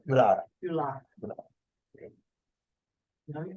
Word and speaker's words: Yulara: And And so you're pronouncing Uluru, Ulu? Uluru. Uluru. Yulara is the name of the town, but Uluru is the Aboriginal word for it, Uluru.